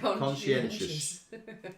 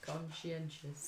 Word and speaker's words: conscientious: How do you say conscientious? Conscientious. Shush. Anyway, I can spell it best I can say it. So conscientious is spelled. It's spelled C-O-N-S-C-I-E-N-T-I-O-U-S. There's no sh in it.